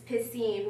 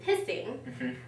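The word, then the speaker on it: Piscine: favorite parts was that his name is french it's pissine which means um swimming pool but since his teacher's even couldn't pronounce it and his friends started calling him pissing like that's just horror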